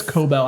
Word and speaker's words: Cobel: It's Cobell.